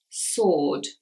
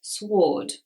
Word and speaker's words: sword: the S here so the next word is sword sword many people may pronounce this sword now actually the rule is that with the letter W W is not pronounced if it comes before R so this is the